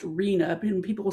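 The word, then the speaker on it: RHNA: It's pronounced arena and people will say when we have arena allocation that means that the assigned units for each jur jurisdiction.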